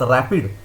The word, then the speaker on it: RAPD: It is pronounced as rapid, which stands for random amplified polymorphic DNA.